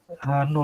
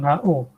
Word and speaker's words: H0: H0 ya, bukan HO. Yang satu bacanya HO, ini H0. Null hypothesis.